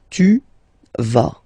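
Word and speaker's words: tu vas: Tva. Same thing here. Final s not pronounced.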